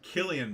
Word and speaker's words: Cillian: Ardent, pronounced Killian, by the way.